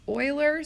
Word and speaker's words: Euler: Now, there's this guy, this looks like Euler, but it's actually pronounced Euler.